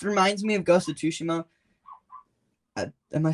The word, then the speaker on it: Tsushima: awesome it just reminds me of ghost of tsushima am I saying that right ghost of tsushima yeah okay I've always said it like that